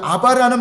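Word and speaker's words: אבא: 여기서 여기 아바라는 말은 아람어로 그냥 아바 단어가 발음이 비슷해요.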